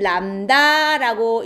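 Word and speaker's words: lambda: 이게 파장을 나타내는 기호인데 읽을 때는 람다라고 읽거든요.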